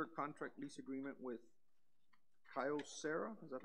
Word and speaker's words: Kyocera: Systems and consider a contract lease agreement with Kyocera. Is that how you pronounce that? Yes, sir. Yes, sir. Kyocera.